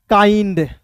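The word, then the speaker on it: kind: लगाएंगे आइंड इसमें आइंड जोड़िए तो हो जाएगा काइंड बहुत लोग ऐसे होंगे जिनको ये भी समझने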